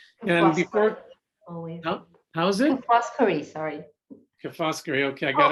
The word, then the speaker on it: Foscari: I hope I pronounced that correctly. And before, how's it? Foscari, sorry.